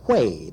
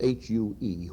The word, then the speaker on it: Huế: And then I went up to Hue, that's H-U-E, Hue, in the very northern part of South